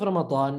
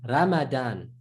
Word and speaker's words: Ramadan: However, in Arabic, when you have a ra with the vowel, the fatha, it must be ra.